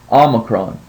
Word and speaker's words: Omicron: which is Omega and Omega always makes that o sound so the way that we're going to pronounce this letter is with a short o sound Omicron and just know that sometimes